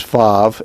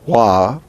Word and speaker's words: vav: english that is consistent some jewish people write this as vav and pronounce it like v other people pronounce it as wah and write it as wow as w-a-w you will find it written in several different formats and the same thing is true on many of the hebrew letters this can be pronounced as v in victory or as w in washington either way it is